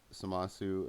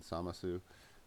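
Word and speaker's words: Zamasu: So again, we have Samasu and Gowasu and Samasu. If you're wondering why I say it that way in the show, that's how they say it, and I actually think it sounds cooler that way anyway.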